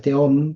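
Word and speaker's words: תהום: porque es verdad que en hebreo es teom porque es una he, pero es una muy difusa, no es Alef, es una que tiene algo de J.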